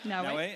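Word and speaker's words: Naoe: Is it Naue? Am I pronouncing that correctly? Yep, Naue.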